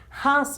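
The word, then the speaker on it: ഹ: This letter has to pronounce as Ha.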